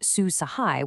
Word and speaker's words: Su Sahay: Susahai, pronounced Sue Sahai, which translates to good assistance, is a brand new artificial intelligencepowered assistance chatbot.